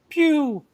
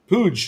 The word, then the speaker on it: Puig: So, Patrick, how do you pronounce David's last name? Because I thought it was Puig, and then I heard on the live, can you, Sobel or Patrick, can you help me here? Pew. Pooge. Pew?